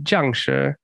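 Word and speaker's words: 僵尸: It depends. But In Mandarin, it would be Jiangshi. Jiangshi?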